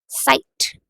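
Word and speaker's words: Zeit: सो time को German में बोला जाता है साइट।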